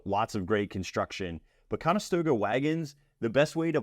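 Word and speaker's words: Conestoga: lot of differences between what I thought a conastoga wagon is versus what mostly was used on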